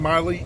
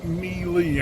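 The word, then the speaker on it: Meile: Some people pronounce her name Miley. It's Mealy, as in the word M-E-L-E-E. But it's spelled M-E-I-L-E.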